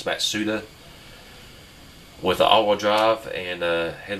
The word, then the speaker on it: Mazda: had like a Mazda Mazda actually prevent the correct pronunciation is Matsuda with all-wheel drive and